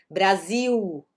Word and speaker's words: Brasil: O L, no final das palavras tem som de U, lembra que eu tinha comentado aqui, abril, ok? Brasil, né? Mas no começo de palavras ele é um L normal, né?